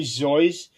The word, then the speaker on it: Seuss: But if for people who ask him, he would initially say that is actually Zoyce, but he came to accepting both pronunciations, and over time, that's how it became accepted.